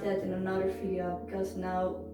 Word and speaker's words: 나: to it we get this one is pronounced like an n and you put an ah next to it and you get no no also not in